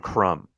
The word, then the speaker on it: crumb: Like the B in crumb.